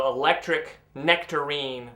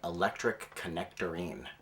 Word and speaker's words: Electric Necktarine: We said, let's just combine them all so it’s an electric necktarine with a silent K. Unfortunately, people started pronouncing the band name electric connectorine.